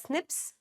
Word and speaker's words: SNPs: They're called single base differences or single nucleotide polymorphisms, SNPs and it's pronounced as snips.